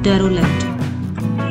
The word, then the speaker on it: derelict: Next word आपको screen पर दिख रहा है, इसकी प्रोनाउंसिएशन ध्यान से सुन लीजिए, डेरोलेक्ट। दिखने में कुछ और लग रहा है पर इसकी प्रोनाउंसिएशन अलग है, जो कि है डेरोलेक्ट।